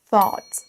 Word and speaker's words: thought: Il faut démarrer avec votre langue au niveau de vos dents supérieures et ensuite faire un son S, mais avec la langue qui est collée au-dessus au niveau des dents. Thought, thought.